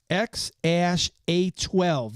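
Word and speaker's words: X Æ A-12: Musk has said the intended pronunciation is X A12.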